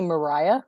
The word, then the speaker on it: Moriah: My real name is actually Moriah, like Mariah Carey, but it's not spelled the same.